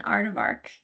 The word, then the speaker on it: aardvark: I think you added an extra syllable in there.